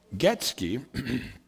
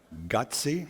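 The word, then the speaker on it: Gøtzsche: a lot of figuring gets key I always say that wrong gutsy gutsy I think it's actually the way you pronounce Peter got CMD who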